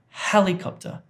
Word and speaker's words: helicopter: Next one is helicopter, helicopter, helicopter. So this is stressed, and then this is just lightly stressed, isn't it?